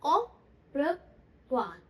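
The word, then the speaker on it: au revoir: ओ प्र वा, ओ प्र हा, ओ प्र वा, ओ प्र वा मतलब गुड बाय, बाय बाय के लिए, है ना।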